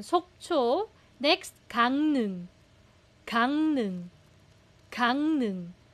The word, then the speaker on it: 강릉: Bakit letter Nya pero real ang consonant? Again, nasalization rules, reading rules ng Korean na hindi tinuturo sa libro. Kaya gang nung po siya because real kasama ng iyang nagiging letter N siya. Gangnung.